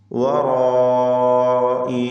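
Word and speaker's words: وَرَاءِ: മിൻ വറാഇ, വറാഇ, ഈ പദത്തിലെ റാഇൻ്റെ ഉച്ചാരണം തടിപ്പിച്ചുകൊണ്ട് തഫ്ഖീം ചെയ്തുകൊണ്ടായിരിക്കണം.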